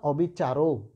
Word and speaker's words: অবিচার: তুমি এটাকে নিশ্চয় বলো না অবিচারও, বলো কিন্তু অবিচার। এই যে দেখো রয়ের সাথে যে সে অয়ের কিন্তু তুমি উচ্চারণ করনি, এই অটাকে কিন্তু তুমি বাদ দিয়েছো, বুঝতে পেরেছো?